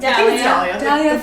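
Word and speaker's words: Dahlia: say her name Dalia Dalia Dalia Dalia like the flower I just realized I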